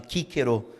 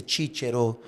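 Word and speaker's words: Cicero: eh do poeta, né, Cícero, que era chamado de kíkero. Uhum. Porque o ser tem esse som e tal, em vez de ser títero, que é hoje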